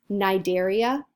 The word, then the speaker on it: Cnidaria: their phylum name is Nigeria this C is silent here we're talking about jellies